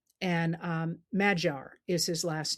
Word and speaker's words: Magyar: And Magyar is his last name. It looks like Magyar, but it's pronounced Magyar.